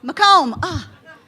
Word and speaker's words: Macomb: Macomb County, Macomb, am I saying it right? Macomb, I practiced that.